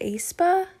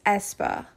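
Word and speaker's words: aespa: pronounce this group name is it aspa i believe it's espa but i thought it was a spa but it's espa whatever espa won't be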